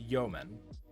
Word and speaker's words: Yeoman: was like node you you man but it's pronounced Yeoman uh template let's see if we can find